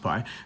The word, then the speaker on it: pi: We use the Greek letter pi, pronounced pi, to represent this value.